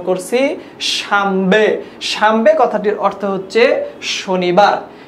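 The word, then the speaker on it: شنبه: ফার্সিতে শনিবারকে বলা হয় শামবে। আপনারা খুব ভালোভাবে যারা মাদ্রাসার ছাত্র তারা জানেন যে এইখানে যে বর্ণটা লেখা রয়েছে সেটা হচ্ছে নুন, কিন্তু আমরা উচ্চারণ করছি মিমের মতো শামবে, উচ্চারণ করছি কি শামবে, শামবে মানে শনিবার।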